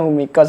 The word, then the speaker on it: Humikos: Nah, bacanya Humikos nih sahabat tani.